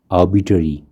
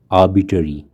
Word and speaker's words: arbitrary: तो यहाँ पे जो इसकी स्पेलिंग है उसमें ए के बाद जो आर है उसको हम साइलेंट रखेंगे, और जो बीच का शब्दांश है बीटरी, इस पर जोर दे के इसको प्रोनाउंस करेंगे।